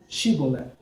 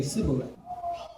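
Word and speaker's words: Shibboleth: So the people as far as Dan would say Shibolet, and the people as far as Judah, which is the extreme south, would say Sibolet.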